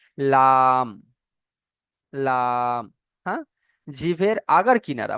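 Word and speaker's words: ل: আচ্ছা, 8 নম্বর মাখরাজ হলো, জিভের আগার কিনারা এবং সামনের উপরে দুই দাঁতের গড়ার সাথে লাগিয়ে উচ্চারণ হয় লাম।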